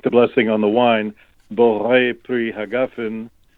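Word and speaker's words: בורא פרי הגפן: So when we make the blessing on the wine, Borei Pri Hagafen, the Yemenites pronounce it Borei Pri Hajafen.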